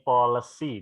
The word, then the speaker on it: policy: Bukan polis ya. Ini policy dibaca.